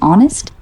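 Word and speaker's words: honest: Read me some words have initial कॉसोनेंट्स which are not pronounced. Easy H इन ऑनेस्ट डब्ल्यू इन रैप के and knock.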